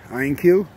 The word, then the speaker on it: Ioniq: ourselves a 2018 hyundai iron cue that's the way you pronounce it okay it's got a